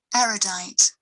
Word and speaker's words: erudite: you die erudite erudite i don't like the way she's pronouncing it erudite it sounds to me like she's saying aerodyne aerodyne erudite i would have always said are you dying but she's probably right erudite erudite erudite interesting